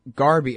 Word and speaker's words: Gharbi: mornings all right i'm talking with musa all garby oh jesus i've been saying your name wrong this whole time sorry you got it